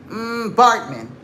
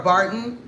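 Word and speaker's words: Baartman: Give me Sarah Bartman. Give me a image of Sarah Barton.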